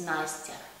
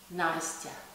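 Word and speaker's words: Настя: Okay, and my short name, very short name, is Nastya. Nastya. And it's also gonna have this letter ya.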